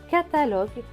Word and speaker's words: catalogue: Donc ce mot va se prononcer ka, ta, lo, ge. Catalogue. Catalogue. Un catalogue.